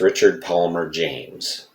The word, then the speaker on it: Richard Palmer James: last video and I apologize for that it's Richard Palmer James and he was The Lyricist he wrote all